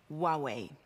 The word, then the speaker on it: Huawei: what we have in store and remember it's pronounced Huawei ANCA dot T Co how do you how